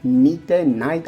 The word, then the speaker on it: Nite: Owl, the word N-Y-T-A, Nite, I don't know how to pronounce it, but it's an alternate word and pronounces the same as night.